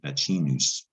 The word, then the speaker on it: vaccinus: Vaccinus Vaccinus, that's CC in Latin. In this example is pronounced with a CH, vaccinus.